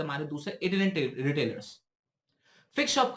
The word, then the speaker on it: itinerant: इसको हमें कैसे प्रोनाउंस करेंगे? इट इनहेरेंट tailors, इटिनेरेंट tailors. और दूसरा होता है बच्चों हमारे फिक्स्ड शॉप रिटेलर्स।